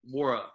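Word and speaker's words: Nwora: Jordan yeah you got wara wara wara the N is silent honestly dink if you're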